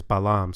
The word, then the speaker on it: Balam: We know that shield is pronounced Pakal, like we saw before, and jaguar is Balam.